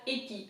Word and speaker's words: épi: So it's E, right? and then I is pronounced I, so épi.